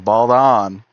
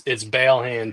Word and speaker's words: Baldon: anyone listening, it's Balehand, 2 short A's.